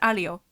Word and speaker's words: Aglio: Which, I mentioned this on Ronan's stream, but I recently found out I've been pronouncing her name wrong. I'm sorry. It's pronounced Alio.